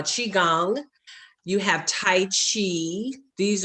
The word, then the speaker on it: qigong: something called qigong and it's spelled q-i-g-o-n-g so uh chi gong you have tai chi